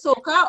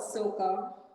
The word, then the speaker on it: Soca: Like, for instance, you categorize your music just as soca, or do you have other genre that you call the music that you sing? No, I would just call it Soca. Soca, Sokah, I would say.